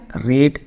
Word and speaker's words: read: पढ़ना इंग्लिश क्या है? रीड, READ। पढ़ा English READ, रेड। रीड, रेड, READ।